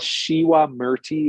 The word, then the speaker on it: Shiwa Murti: ahead so it's called shiwa murti or Shiva murti we we call it Shiva in the west but they pronounce it in Bali shiwa it's a Balinese healing